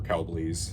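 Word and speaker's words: Kelbly's: Defiance, Impact, Lone Peak, Kelbley, or Kelbleys, I think is the right way to pronounce it, action.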